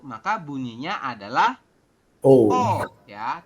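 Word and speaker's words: 어: Ada 1, maka bunyinya adalah O. Ya, tulisannya EO, tapi kita bacanya adalah O.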